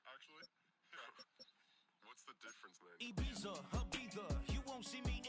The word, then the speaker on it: Ibiza: Ibiza. Yeah, it's pronounced Ibiza, actually. What's the difference, man? Ibiza, Ibiza, you won't see me in neither.